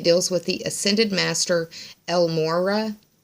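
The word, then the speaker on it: El Morya: with the ascended Master El Mora Elmora I believe is how it's pronounced and it deals with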